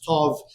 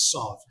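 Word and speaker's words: ת: Milra syllabic system, and the pronunciation of the letter Tov in Hebrew, which the Sephardim pronounced as Tov, and the Ashkenazim as Sov.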